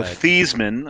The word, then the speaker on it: Theismann: Well, Joe Theismann, until he decided to change the pronunciation of his name to rhyme with Heisman.